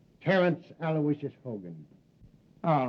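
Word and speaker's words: Aloysius: Terrence Alawishas Hogan.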